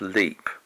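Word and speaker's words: Lepe: old house that's a leap house perhaps I should say that leap house is spelled unusually l-e-p-e but it's pronounced leap probably doing a bit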